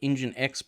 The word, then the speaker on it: NGINX: That's correct, it's called NGINX Proxy Manager. I was mispronouncing it in earlier videos, so I've been corrected on that.